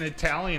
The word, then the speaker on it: Italia: So some people in the chat were saying Italian is spelled wrong.